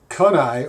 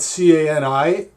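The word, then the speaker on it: CANI: created a simple mnemonic pronounced kunai or kunai I can only imagine that having a spelled c-a-n-i if you pronounce it as it looks it would be pronounced can I and in Tony Robbins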